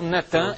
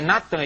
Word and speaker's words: Nathan: de Alorô de Israel, Netan. É Nathan. Eles já fizeram sincretismo, botaram Netã, mas é Nathan e Arro.